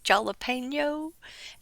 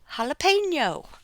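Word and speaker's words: jalapeño: __ ] with me the easiest way to remember how to pronounce that is because it's going to hurt your mouth so it's holla pain yo jalapeno that's but I understand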